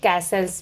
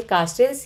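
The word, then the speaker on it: Castells: पूछ दिया जाता है तो दोन एक ही थिंकर हैं बस नाम अलग तरीके से प्रोनाउंस होता है इंग्लिश में तो सेम है लेकिन हिंदी में प्रोनाउंस करने में अलग-अलग हो जाता है तो मैनुअल काल्स या फिर मैनुअल कैसल्स भी कह सकते हैं ओके अगला ऑप्शन है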